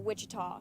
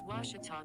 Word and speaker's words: Ouachita: university back in texas everybody pronounces it wichita but really it's ouachita washington how would you pronounce it it's washita baptist university get it